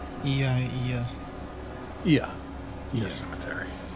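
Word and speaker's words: Oia: Ia. Ia. Ia. Cemetery. Spelled O-I-A, pronounced Ia.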